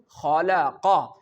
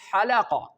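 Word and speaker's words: خلق: kha, when we produce khalaqa, here the mistake done by the people that they recite halaqa. Even you know very well that kha and ha both are two different words. It means that both have their origin and their pronunciation from their different parts.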